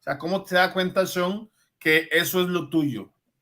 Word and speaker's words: Sean: It's Sean. You said it just Sean right.